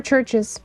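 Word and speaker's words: Chvrches: A is more like V or Churches. Churches is spelled with churches because churches is spelled with um I always forget about churches with a V.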